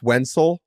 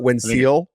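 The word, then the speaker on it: Wenceel: but the fact that it's Wen C eel and is pronounced wiel or wiel yeah and not WIIL yeah that's a tough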